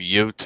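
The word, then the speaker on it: Yōtei: ghost that's the new one how did they pronounce ghost of what it's ghost of yot but Twitter's been calling it ghost of woke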